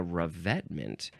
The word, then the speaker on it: revetment: for such purposes as filling ditches and making revetments for riverbanks. What is a revetment? And how do you... something on the riverbanks. How do you pronounce that?